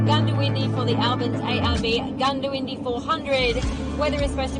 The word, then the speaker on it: Goondiwindi: Heading out to, I've written Goondiwindi, but Chris tells me it's pronounced Goondiwindi or Gundy.